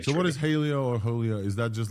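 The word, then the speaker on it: Hailuo: I will pronounce it as a Hai Luo. Hai means sea, and the Luo means share in Chinese. I see. Okay, so Hai Luo.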